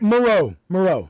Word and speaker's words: Moreau: Moreau, like Dr. Moreau.